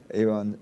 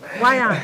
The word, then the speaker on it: Yvonne: Eon Swan as well. I like that name, Eon. Eon. Yes. Wyon. Wyon. Yeah, Wyon. No, I like it because you spell it Yvonne, but it's Wyon.